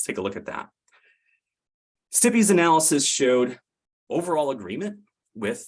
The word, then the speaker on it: STPI: Technology policy Institute stpi or as we as we pronounce because we like to pronounce acronyms stippy looking for agreement with